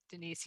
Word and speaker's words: Denyce: Okay, Denise, yes.